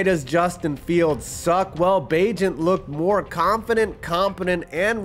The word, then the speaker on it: Bagent: Bagent, which rhymes with agent, the undrafted rookie out